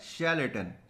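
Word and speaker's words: charlatan: ठीक है, तो आज का हमारा पहला वर्ड है शैलेटन। शैलेटन, पहले तो शैलेटन इसका प्रोनाउंसिएशन थोड़ा सा अलग होता है। ठीक है, शै निकलता है इससे, और इसकी जो स्पेलिंग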